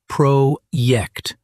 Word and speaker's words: Projekt: The word project, the J in German is a Y sound, so it's projekt.